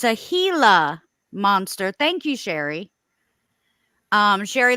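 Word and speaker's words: Gila monster: um oh I'm saying it wrong it's a hila monster thank you Sherry um Sherry looks out the pronunciation so it's pronounced hila monster um anyways um so like he got rushed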